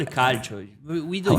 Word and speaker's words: calcio: We call it calcio. We don't How are you use saying it? Kaijo? calcio? Kaichu. Calcio. Like that? Yeah.